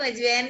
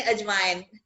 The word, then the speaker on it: अजवाइन: मैं तुम्हारी हिंदी करेक्ट करूं, अजवाइन नहीं अजवाइन. हाँ, अजवाइन. Sorry. बिल्कुल बिल्कुल सही बात है, हर लैंग्वेज में करेक्ट प्रोनाउंसिएशन होनी चाहिए. इट इज अजवाइन, राइट.